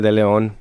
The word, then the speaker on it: De Leon: And across from me, we have Chicago's own de Leon. Is that De Leon, right? That's how you pronounce it.